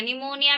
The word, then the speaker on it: निमोनिया: निमोनिया में P silent here, ठीक है।